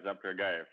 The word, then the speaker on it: Zapragayev: Y tenemos también a Saprayagayev. Saprayagayev, lo he dicho bien. Good morning. How do you say your name? Well, Zapragayev, yes.